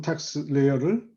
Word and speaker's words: TaxSlayer: 그래서 앞으로 3년 동안 더 똑같은 텍스 레이어를 쓸 겁니다. 이거를 발음을 잘 하셔야 돼요.